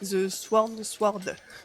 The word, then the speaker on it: The Sworn Sword: Donc The Hedge Knight en 98, The Sworn Sword, c'est pas facile à dire. Oh sais pas si on prononce pas mal, genre le W, tu vois.